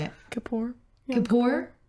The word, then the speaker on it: Kippur: Kippur. And how do you say it? Kapoor.